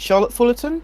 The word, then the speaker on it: Charlotte Fullerton: Is that the correct pronunciation? And is it Charlotte Fullerton?